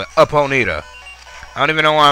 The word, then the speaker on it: Ponyta: ponita in this grass i say ponita because that's how they say it in pokemon stadium and that's how like